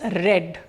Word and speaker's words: read: write future tense diya reads loudly diya read loudly diya will read loudly so here see the even though the spelling is r e a d the pronunciation is red reads red r e